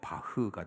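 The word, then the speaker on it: Bach: 그 유명한 음악가 중에 바하라고 있죠 옛날에 우리가 파악을 했는데 그 사람의 출생지에 따라서 원을 발음하면 뭐 바흐가 되겠죠 그가 작품을 쓰고 맨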